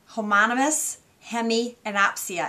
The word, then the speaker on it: homonymous hemianopia: do need to know this word and it's pronounced let me get this right homonymous hemianopia homonymous hemianopia and what that means is it is a